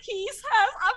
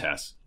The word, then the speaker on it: Hesse: got and he's hesi tell the world how you pronounce your name it's just hess okay well welcome try